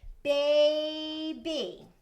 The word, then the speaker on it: baby: So the Y sounds like an E, but it's a long E sound and a consonant. So what do we have in the word baby? We have two open syllables.